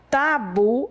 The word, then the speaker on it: tabu: Bom, se você, por exemplo, você tem algum tabu, tá? Se você vai falar de tabu, tabu é uma palavra oxítona, mas não é uma palavra acentuada, tá? Então, a sílaba forte de tabu é a última.